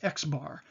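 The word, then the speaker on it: x̄: X with a bar above it oftentimes that's pronounced X bar and you'll see that in statistics books and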